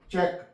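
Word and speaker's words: cheque: है और you silent चेक सी एच ई क यू ई यहां प यू के बाद ई आ गया है you silent unique you एन आई क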